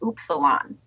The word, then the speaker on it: Upsilon: cool it's cool U we mispronounce it on purpose it's actually supposed to be pronounced oops Salon but knowing most English